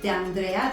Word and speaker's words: D'Andrea: a very special guest, D'Andrea. Did I pronounce it correctly? Yes, that's correct.